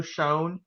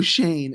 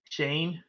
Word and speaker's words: Schoen: do have a new gm it's uh joe shone the artist they pronounce it somehow joe shane and i'm dead serious on that shane yes whatever whatever that's serious i didn't know